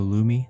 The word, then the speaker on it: Lume: As a special offer for new customers, you get $5 off of a Lumi starter pack.